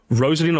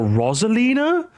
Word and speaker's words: Rosalina: Rosalina or Rosalina? Unless you're Australian, you have no excuse to pronounce it Rosalina.